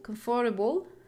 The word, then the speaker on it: comfortable: When you add able, comfortable, the stress remain on the first syllable.